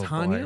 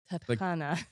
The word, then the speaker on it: Tatiana: Oh, Tatiana, boy.